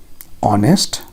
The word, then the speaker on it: honest: coming next one is honest honest h is silent o is coming vowel